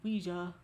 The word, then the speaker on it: Ouija: You know what Ouija, pronounced Ouija or Ouija board is?